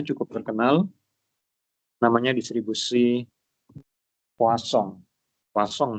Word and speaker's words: Poisson: Poisson bacanya ya, jangan Poisson.